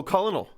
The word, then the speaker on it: colonel: s it's like um what is it colonel oh culinal yeah how long was it how long did it take for you to realize that colonel was spelled colonel it was after